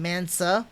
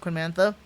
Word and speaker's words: Queen Mantha: So usually, like Hamon's Cubile, for an example, the Queen Mantha, I was going to get Mansa, that's actually pronounced Queen Mantha, or like the new